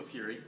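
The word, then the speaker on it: Furey: Detective Marco Fury. Okay. Yeah, Fury. Okay. He's not French. But Well, that's the way it's spelled. It says F-U-R-E-Y.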